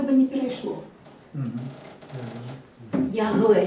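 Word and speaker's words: יהוה: Ягве, як у білоруській. Вимовляється як по-білоруську.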